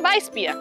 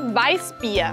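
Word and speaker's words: Weißbier: Paulaner Weissbier. La R al final como una A y la SZ como una S. Paulaner Weissbier. Paulaner Weissbier.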